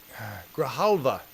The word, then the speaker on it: Grijalva: And it's Raul Grijalva. God damn it, that's how his last name is pronounced.